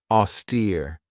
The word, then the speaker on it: austere: Another great word is this one right here, austere. This has 2 syllables, and the stress is on that second syllable with that long E sound.